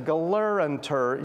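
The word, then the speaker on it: Gelernter: And by the way, his name is Galeranter, so you have to add another syllable in his name that's not there.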